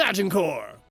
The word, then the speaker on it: Agincourt: It's actually pronounced Battle of Agincourt.